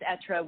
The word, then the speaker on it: Être: If we were French, we would say it in a cooler way, but it's Être, which in French means to be.